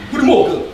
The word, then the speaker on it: goedemorgen: Goedemorgen. Gini, bahasa gini. Itu bahasa Belanda. Serius? Artinya good morning. Apa? Nah, bacanya goedemorgen.